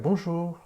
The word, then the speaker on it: bonjour: it right and it's it's because i didn't accentuate the last syllable so it would be like right so we're going to say a little bit longer like bonjour i mean that was